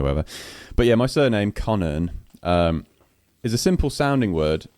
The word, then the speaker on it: Connearn: So, for those listening, my surname is Connearn, right? Connearn, which is basically like Connor with an N on the end. That's how you pronounce it, Connearn.